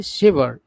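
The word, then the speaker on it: sever: जाएगा पहला है सीवियर क्या है सेवर सेवर है सीवियर नहीं दूसरा है सीवियर पहला वर्ड का उच्चारण होगा सेवर दूसरा का उच्चारण है सीवियर तीसरा है सवर है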